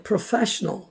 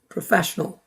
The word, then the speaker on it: professional: 네, 이렇게 해서 그 다음에 professional. 이것도 눈으로는 잘 아는 단어입니다. 그런데 귀로 들을 때는 그냥 강세 fa만 크게 들리고 나머지가 뭉쳐버리죠. professional.